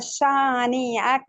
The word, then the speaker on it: شانئك: For the example, shani aka, that's wrong. Shani aka, that's a word. You must practice only this word أب until your pronunciation is without any mistake. Also noon, also alif. Shani aka. إن شانئك هو Shani, that's الأبتر. wrong. Shani, that's wrong.